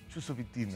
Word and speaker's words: Chusovitina: Chusovitina. Chusovitina. Ah, oye, ¿qué tal que si estuviera pensando en español diría chusovitina como en mi norte? En la CH tengo ese problema. Como Sharapova.